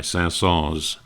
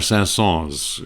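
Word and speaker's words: Saint-Saëns: your proper name of pronouncing the s or not pronouncing the S and the S family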